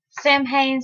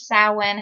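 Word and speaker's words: Samhain: pagan holiday you celebrate Sam Hayne slash sowin however you want to pronounce it and embolic because embolic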